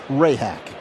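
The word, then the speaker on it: Rehak: As I said, Rehack. I feel like I may have mispronounced the name. Zack, please help. Ray hack. But it's spelled Rehack.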